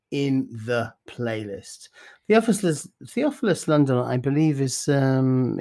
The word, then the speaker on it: Theophilus: because i wouldn't have said it right it's theophilus i was so proud of my i wrote it phonetically on my show it's not it's not